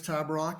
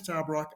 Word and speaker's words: Tabarrok: So my name is Nicholas Tabarrok, and Nate, you got the pronunciation perfect.